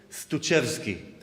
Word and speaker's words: Stutschewsky: So it goes like this: Joachim Stutschewsky. You can practice, and in intermission, if you see me, I'll say it one more time. Trust me, it's not easy. I never gave a CD out. Joachim Stutschewsky.